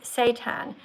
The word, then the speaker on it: seitan: believe it or not, it's called seitan, and it's spelled Seitan, and it's packed with protein.